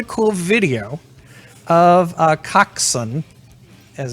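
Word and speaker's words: coxswain: swing is actually um a cock's son coxsen coxson is how it's pronounced right this is a non-athlete athlete who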